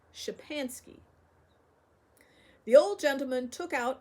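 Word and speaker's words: Szczepansky: k y and said that's how you write it you call it shapansky the Old Gentleman took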